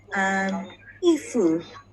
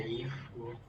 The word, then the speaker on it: 衣服: Yeah, so 衣服 here, 衣服, E is a stressed word. Stressed word, 衣服. So 服 is very light.